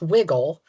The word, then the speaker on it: wriggle: I mean, one comes from Germanic, Middle English, wiggle without, it's related to cradle, and wriggle, which I pronounce wiggle, is Middle Low German.